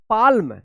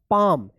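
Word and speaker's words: palm: अब देखिए यहां पे पी ए एल एम क्या पढ़ेंगे इसको? पालम नहीं इसको पढ़ा जाएगा पाम।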